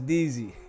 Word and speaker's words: Deezy: You said I'm getting dizzy, not Deezy. Okay. She said. Wait, what? I guess they say you saying my name wrong because it's Deezy. Isn't it Dizzy? It's Deezy.